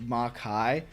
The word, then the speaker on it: Makai: like it's like pronounced Makai but it's really just make with an I added to the end the stage Havoc phase